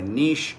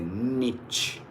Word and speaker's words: niche: You can say niche. You can also say niche. What is that? Niche, niche. Both are correct.